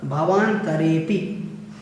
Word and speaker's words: भवान्तरेऽपि: उसके बाद में आप चौथी पंक्ति में देखें तो भुवनेत्र और भवान्तरेऽपि। इन सभी में आपको ध्यान रखना है, भुवनेत्र और भवान्तरेऽपि है तो इन दोनों में ही आपको अवग्रह का उच्चारण नहीं करना है।